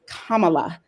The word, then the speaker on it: Kamala: kamala i heard i i heard her name pronounced wrong so many times that now i have to correct myself it's kamala so let's hope that kamala harris really keeps